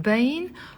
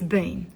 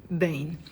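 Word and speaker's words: بين: and as I said you can pronounce it Bane or bin okay usually it's Bane and the Lebanese dialect it's Bane so I want to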